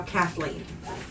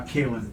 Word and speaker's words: Caitlyn: name Kalin and now Kathleen I keep pronouncing it wrong so it's her uh Caitlyn sends yeah I wasn't